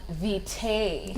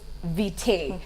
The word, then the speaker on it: vitae: One of the most wrongly pronounced words is vitae, because a lot of people say curriculum vitae. No, they say vitae actually, but it's vitae. Yes. It's vitae actually, so it's the other way around.